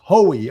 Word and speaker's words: Hoy: It is Irish Bill, pronounced Hoey.